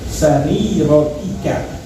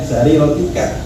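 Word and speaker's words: سريرتك: Kita nggak pernah ngomong kayak begitu, tapi Allah Subhanahu Wa Taala tahu apa yang ada di sarirotika. Ya, sarirotika, bukan sariroti nih teman-teman.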